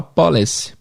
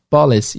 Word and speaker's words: police: Mas geralmente, brasileiro falando inglês, eles vão falar police. Eles, nós, né? Police, em vez de police. E hotel também, a mesma sílaba tônica do português.